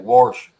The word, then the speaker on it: washer: We pronounce that Warshers. There's a R right in the middle. Brian, did they still use gas engines on? Did you say washers?